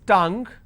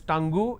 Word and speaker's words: tongue: of these common words it's tongue please don't pronounce that as tango it's tongue seen rhythm computer geography